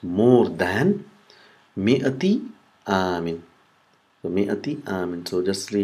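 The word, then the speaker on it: مائة: So mi'ati amin. So just see how it is mi'ati is written. Is written with alif mamduda, but it's not pronounced.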